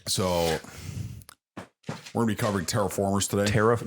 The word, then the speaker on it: Terra Formars: word mars and terraform but it is is pronounced terraformers um probably bad spelling